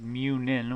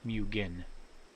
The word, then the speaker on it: Munin: It is Munin with an N, not Mugen.